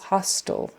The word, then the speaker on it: hostile: uh not friendly it you say it the same way as h o s t l hostile so that t um for some reason even though there's an e on the end we're not making that eye a long ey it's just hostile o oh it's one